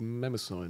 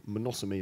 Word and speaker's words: Mnemosyne: I'm gonna talk to you about something called never sign or monosomy as you're actually supposed to pronounce it so monosomy is the Greek Titan of memory we've spent the last year calling it member sign and last week I was talking to a